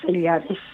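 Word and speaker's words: Sellarés: Solo debo decirte algo, que mi apellido verdadero es Sellares. Sí, ahí por con ahí. acento en la E final. Ahí, Tiene o sea, catalán, ¿no? Ortográfico. Y bueno, siempre se lee Sellares, porque bueno, no, por ahí el acento ortográfico no figura.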